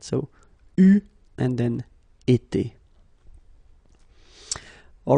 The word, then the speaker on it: eu: Okay, but you will have to pronounce it u. So remember, main difference or big difference between what you write and what you pronounce. So you write it like that, u, but then you pronounce it u.